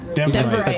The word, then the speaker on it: Denverite: Denvorian? Denverite.